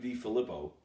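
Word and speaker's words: DiFilippo: Oh, Greg D. Filippo is how you pronounce that.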